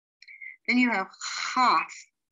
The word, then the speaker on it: Chaf: Then you have Chaf. This sounds like an H in the back of the throat, and they will transliterate with an H or CH or a KH. Then you have a Chaf Sofit, which is written in two different ways.